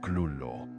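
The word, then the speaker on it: Cthulhu: El mismo Octulu fue concebido intencionalmente como una palabra más allá del habla humana, sin una pronunciación verdaderamente correcta, aunque Lobcraft una vez sugirió que sonaba algo así como Clullo.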